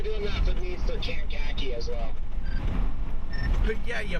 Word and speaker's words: Kankakee: And I'm like, it's Kankakee. And he's like, that's what I said.